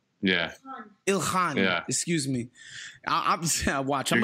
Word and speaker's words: Ilhan: yes yes we love you ilyan omar or ilhyan yeah ilhan yeah excuse me i'm watching i'm gonna get